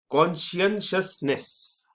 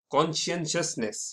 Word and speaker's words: Conscientiousness: तीसरा वाला है थोड़ा भारी है, इसलिए इसको प्रोनाउंस मैं धीरे धीरे करूंगा। कॉन्शियसनेस, कॉन्शियसनेस, ये थोड़ा सा ट्रिकी प्रोनाउंसिएशन इसका है।